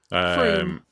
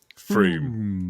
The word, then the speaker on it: Frome: I know, but I have watched a Map Men thing on it, and they show you how you're supposed to pronounce it. Froome. Froome.